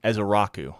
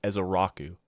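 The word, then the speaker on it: Ezeiruaku: It's Donovan Ezaraku. I believe that's how you pronounce his last name, is Ezaraku.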